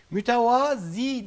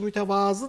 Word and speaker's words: mütevazı: lise değildir de lisedir mütevazi değildir de mütevazıdır mesela doğrusu yazılışı da bunu Bazen diyorlar hocam ha ha yazılışı mütevazı da okunuşu mütevazi Hayır yazılışı da mütevazı Okumuş'un da mütevaz müzik pardesü